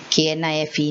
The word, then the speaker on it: knife: there is knowledge so all these k's are silent okay now you have